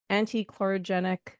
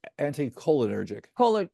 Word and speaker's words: anticholinergic: Anti-chlorogenic drugs, medications. Is that the pronunciation of it? Like there are certain Oh, medications. no, anticholinergic.